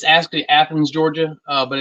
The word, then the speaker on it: Athens: having coming up April 26 and 27 in athan's Georgia where's that in in relation to Atlanta uh so it's it's actually Athens Georgia uh but it's a home of the